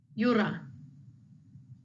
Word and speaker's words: yura: Yura, yura. The double R there is that D sound, the roll of the tongue.